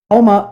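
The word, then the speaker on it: Houma: Homa, Louisiana. Is that pronounced it?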